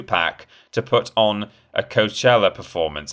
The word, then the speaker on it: Coachella: to put on a coachella performance how do you pronounce that coshella i think coachella is right coachella uh that was